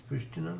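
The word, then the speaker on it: Priština: Sh in Serbian, and Pristina should also have V V over it, diacritical V over it, because it's Pristina normally.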